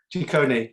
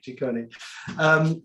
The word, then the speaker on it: Ciccone: So with respect to Craig, I say Craig Ciccone, but I think you say Ciccone, don't you? Is that how you pronounce it? Ciccone. Ciccone.